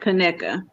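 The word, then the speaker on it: Conecuh: your life if you ever come across some kaneka sausage they like crack it comes from a place called connect alabama but uh it's spelled c-o-n-e-c-u-h but it's pronounced connected do you eat this on a hot dog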